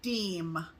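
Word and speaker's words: Diehm: And this came to us from, and I think I'm pronouncing this right, Sally Deem.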